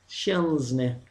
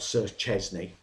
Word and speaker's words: Szczesny: should just, you know, take a bit of time to try and get that sound. Szczesny. That is how you pronounce Szczesny. Not the way we're hearing it. Not Sir Szczesny.